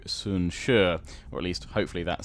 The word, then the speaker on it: Sun Jian: turns off there whoo I've been calling soon see apparently it's pronounced closer to soon sure or at least hopefully